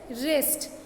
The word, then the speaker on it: wrist: Then it इज़ नॉट wrist, इट इज़ wrist.